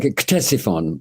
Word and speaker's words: Ctesiphon: butcher this, but is Ctesiphon? Am I correct in pronouncing it? Yeah, well, like Ctesiphon, I would say.